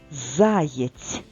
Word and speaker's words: заєць: також пропустимо і останнє слово заєць покличемо зайця заєць наголос на першому складі тож запишемо зайця звичайно